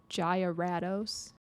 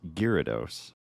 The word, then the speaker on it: Gyarados: get yourself a g Gatos what is that a Gatos um it is pronounced girados okay that makes more